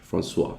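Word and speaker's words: François: indices as well oh pronounce Francois okay yeah the French to the O and the I yeah that kind of threw me off uh but I guess that's French Francois yeah uh no problem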